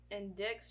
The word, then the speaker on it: indict: The district attorney indicts Shawshank. Indicts, yes. Indicts, yeah. Indicts. The C is silent. Indict.